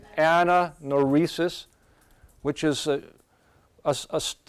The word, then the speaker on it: anagnorisis: you guys say that so we got silent G there Anna no rhesus which is us it's